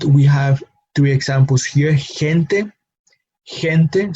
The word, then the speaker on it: gente: So again, that when we see G here next to the vowel E, we reproduce the same sound that we tend to give the English H. No, so gente.